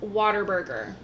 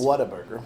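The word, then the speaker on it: Whataburger: By the way, it's pronounced waterburger. No, it's it's not. Even though it is not spelled that way, that's how it's pronounced. What a burger.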